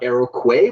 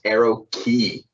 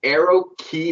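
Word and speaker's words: Aeroquay: do have to fully admit that it's not eroque but it's pronounced arrow key i betcha a real airplane enthusiast brought that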